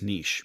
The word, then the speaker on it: niche: niche, and then yeah, I think it's niche is the official way It, to say it. I think it is actually the correct way to say it is niche, but in the Midwest, you're right.